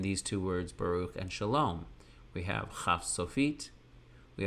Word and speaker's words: Shalom: We can do the same thing with Shalom. We have the letter shin and kamatz in yellow for sha, your mouth stays open for an open syllable, and lom, lamed, cholam vav, and mem sofit for closed.